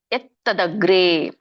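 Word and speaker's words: ಯತ್ತದಗ್ರೇ: ಎತ್ತದಗ್ರೇ ನೋಡಿ, ಎತ್ ಅಂತ ಇದೆ ಅಲ್ಲಿ. ಎತ್ ವ್ಯಂಜನ ಇದೆ, ಹಾಗಾಗಿ ನೀವು ಮುಂದಿನ ಒಂದು ಅಕ್ಷರ ಒತ್ತು ಬಂದಾಗೆ ಹೇಳ್ಬೇಕು. ಮುಂದಿನ ಅಕ್ಷರ ತ ಇದೆ, ಹಾಗಾಗಿ ತಕ್ಕೆ ತ ಒತ್ತು ಬಂದಾಗೆ ಇಲ್ಲಿ ಹೇಳ್ಬೇಕು. ಎತ್ತದಗ್ರೇ, ಎತ್ತದಗ್ರೇ.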